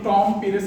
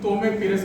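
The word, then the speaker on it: Tomé Pires: ওই প্রবন্ধে ওইটার উচ্চারণটা আমার অনুবাদে আর ওইখানে অনুবাদে নামের মধ্যে একটা আছে, কারণ হচ্ছে আমি টম পেরেস করেছি, উনি তোমে পেরেস করেছেন। আমার ধারণা যে উনি শুদ্ধ পর্তুগিজ উচ্চারণ, তো ফলে আমি ইন্টারনেট দেখে, ইউটিউব দেখে উচ্চারণটা করেছি।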